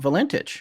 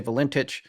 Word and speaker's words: Valentich: Well, let's talk about Valentich.